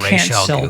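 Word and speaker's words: Ra's: him to in the he's supposed to be pronounced ra but whatever I'll let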